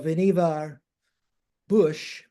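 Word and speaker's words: Vannevar Bush: So Veneva Bush uh pronounced the way beaver is pronounced in New England.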